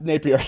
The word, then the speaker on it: Napier: let me welcome to the show taylor nat napier i said nephew taylor thank you very much